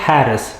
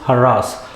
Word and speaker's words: harass: of military coups it does not harris it is harass evil people harass others